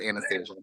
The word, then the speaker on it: Anastasia: is know they didn't they forgot how to say Anastasia they made up a new name but it's Anastasia okay like always okay